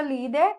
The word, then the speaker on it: líder: A palavra líder é acentuada por ser uma paroxítona terminada em R.